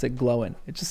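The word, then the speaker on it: Glóin: Yes, I love how you guys, okay, so that is the correct pronunciation. Glowin.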